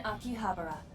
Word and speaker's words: Akihabara: to conceptualize friends you so Akihabara is correct yeah bro I've always pronounced it wrong then interesting I think pewter